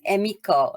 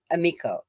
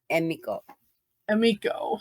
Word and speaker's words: Emiko: Kalanchoe, and her name is Emiko, not Emiko. Emiko. Let's see where Emiko is from.